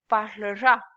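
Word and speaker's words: parlera: So it mean we pronounce it as parlor.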